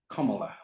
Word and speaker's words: Kamala: And she says, Y ella dice, my first name is pronounced Kamala, like the punctuation mark.